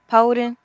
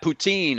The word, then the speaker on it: poutine: say that again please poden we'll accept that poutine is how it's pronounced in french we will accept that